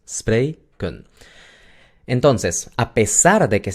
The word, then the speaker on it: spreken: Entonces tenemos 2 sílabas. Spray, kun.